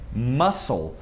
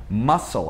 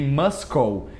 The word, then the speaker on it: muscle: E também essa palavra que muita gente erra, que significa músculo em inglês, que é muscle. Muscle. A gente não fala muscle, nem muscle. É muscle. Muscle.